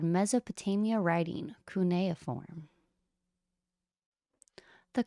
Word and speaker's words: cuneiform: This is called Mesopotamia Writing, Cuneiform. The correct pronunciation of this word is actually cuneiform.